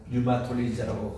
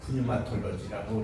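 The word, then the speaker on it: pneumatology: 분류마톨로지리라고 그렇게 발음을 합니다 그냥 류마톨리지라고 하는게 아니라 분유만 톨러지라고 이렇게 가서 이거를 성령론이라 그렇게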